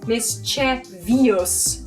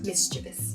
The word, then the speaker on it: mischievous: Mischievous, as opposed to mischievous in the non-standard spelling and the non-standard pronunciation.